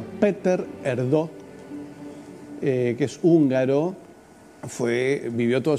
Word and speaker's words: Péter Erdő: Bueno, ahí está el cardenal que se pronuncia Péter Erdő, que es húngaro, vivió toda su vida bajo